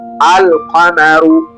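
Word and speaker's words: القمر: Kwa hiyo ndugu yangu mpendwa kwa muktasari kabisa upande wa mwezi yaani kamaria herufi lam inatamkwa wazi kama katika neno alkamaru na upande wa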